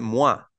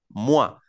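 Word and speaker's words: moi: enfatizar como para decir quién yo se dice mua mua se llama tónico en francés entonces s yo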